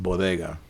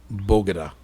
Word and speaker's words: bodega: did two things first she uh mispronounced bodega and she did bogeydah oh she said bogada you got to get that right bro that would have been